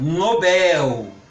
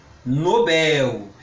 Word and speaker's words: Nobel: palavra Mister que vem importada do inglês o Nobel Nobel ele ganhou o prêmio Nobel da Paz recém